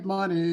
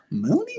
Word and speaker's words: Money: because they're like okay it can't be money it's spelled like money it's so hilarious my kids are just like Mooney where do they get